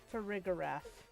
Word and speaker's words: Farigiraf: Farigarath.